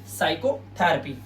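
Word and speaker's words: psychotherapy: और यहां पर होता है साइकोथरेपी। साइकोथरेपी मतलब मनोचिकित्सा। जो इलाज करता है साइकोथरेपी। इन सभी वर्ड्स के अंदर आपने देखा हमारा पी लेटर जो है वो साइलेंट है। क्यों? क्योंकि एस से पहले आया हुआ है।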